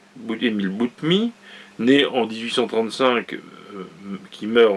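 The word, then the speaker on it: Boutmy: gloire au 19e siècle qui s'appelle émis le boot me s'écrit bo utm y butine bootmii né en 1835 qui meurt en 1906 qui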